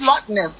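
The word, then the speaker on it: LOTNS: Yes, it's Lotness. It's Lotness. Oh, yeah. Lotness. All right. Thank you for sharing that. Thank you for that. At least I'll sleep better. Almost like a Loch Ness, like a creature.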